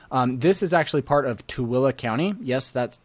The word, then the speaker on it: Tooele: here in grantsville this is actually part of tooele county yes that's t-o-o-e-l-e is pronounced tooele i know that's a little bit